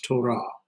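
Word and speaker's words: תורה: It's hardening the sound, so it's to ra, and so we have our consonant with a vowel and another consonant following no vowel, so it's a closed consonant. So there's one syllable right here, and here's the other right here. So it's Torah.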